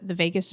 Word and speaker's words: vagus: And more specifically, there's this thing, and I'm sure y'all have heard it, maybe the vagus nerve.